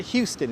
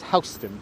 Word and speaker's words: Houston Street: So why is it pronounced Houston Street? Because that was the name of the family that owned the land in that area. So it's not Houston, it's Houston, because that wasn't how you pronounce the family's name.